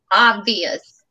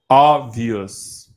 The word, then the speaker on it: obvious: So you say the first I. You don't say the second I. Like in religious, the second I is silent. But the first I you pronounce. So in this case, obvious.